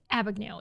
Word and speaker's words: Abagnale: Frank Abagnale.